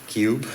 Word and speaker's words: CUHBE: device, we call it CUHBE, Continuous Ultrasonic Homogenizer and Bubble Eliminator. CUHBE, and H is silent.